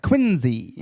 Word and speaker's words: Quincy: If you probably notice, I pronounce it Quincy. with Yeah, a no, Z. I was just about to ask. Quincy. Quincy.